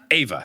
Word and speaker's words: Ava: Ava, thank you. That's one of those, like, it's spelled the same.